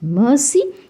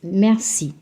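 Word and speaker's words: merci: pronouncing it as Mercy it's not Mercy it's Mercy don't give a little stress on the r and say Mercy Mercy is thank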